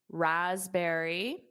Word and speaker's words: raspberry: So notice that P is not pronounced. Raspberries, raspberries. And there's more of a Z, raspberries, raspberries, raspberries.